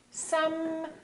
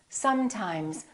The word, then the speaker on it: sometimes: So take your time and fully pronounce the continuant. So I want you to say sometimes, sometimes. Don't say sometimes, sometimes. A lot of people rush through the continuants and make them too short.